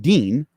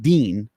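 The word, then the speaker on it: دين: It's called deen, D-I-I-N, or however it's spelled in Arabic, deen.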